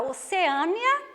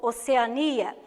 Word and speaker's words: Oceania: o mesmo equivale para oceânia ou oceania as duas formas de pronunciar essa palavra são corretas eu posso falar oceania